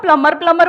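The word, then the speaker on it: plumber: सर उसको खुद ही नहीं पता कि बी साइलेंट है। आप हाँ। उसको प्लम्बर बोलोगे, शायद उसको अजीब लगे, मैडम फालतू क्या एक्सेंट मारी।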